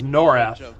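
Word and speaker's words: Norrath: It's that that is it Norath or is it I always pronounce it as Norath. It's Norath.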